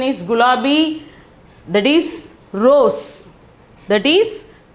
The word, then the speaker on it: गुलाबी: The pronunciation is gulabi.